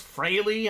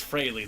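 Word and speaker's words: Frehley: Ace I think it's fry out of Kiss I always struggle with pronunciations of non-athletes Alex I call him the kiss guy yeah I think it's Frey though the way it's pronounced that's right I think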